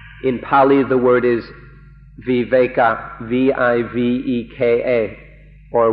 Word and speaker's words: viveka: pali the word is viveka v-i-v-e-k-a or we wake up and in thai it's pronounced we wake we wake up is